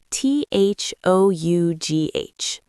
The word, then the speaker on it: though: T h o u g h. It's pronounced though. The o u g h sounds like o.